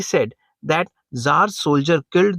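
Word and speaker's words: Czar: आपको पता है की जो रसिया है उसमें पहले जो जर है बोलने में हम जर कहते हैं और स्पेलिंग सी से शुरू होते हैं ठीक है जर जो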